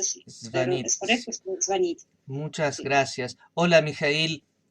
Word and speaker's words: звонить: Entonces, es correcto hablar звонить, solo звонить con acento en i, y yo no tenía razón, me equivoqué.